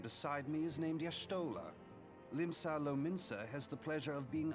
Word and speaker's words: Limsa Lominsa: Limsa Lominsa has the pleasure of being under her Limsa care. Lominsa. That's how you pronounce that.